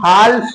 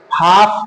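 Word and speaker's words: half: एच ए एल एफ हम हाल्फ नहीं पढ़ेंगे हमको एच कर दिए एफ कर दिए अब ये हमारा हाल नहीं पढ़ा जा बल्कि ये हमारा एल साइलेंट होगा तो हम क्या पढ़ेंगे हाफ पढ़ेंगे हाफ आधा ठीक है ऐसे ही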